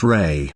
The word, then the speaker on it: Ra: The word Ra is the name of an ancient god called Ra, pronounced Re.